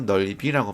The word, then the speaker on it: 넓이: 앉아서 역시 어미가 왔기 때문에 이 지읒을 디음절 첫 소리로 옮겨서 앉아서 넓이 역시 조사기 때문에 비읍을 디음절 첫 소리로 옮겨서 넓이라고 발음하는 거예요.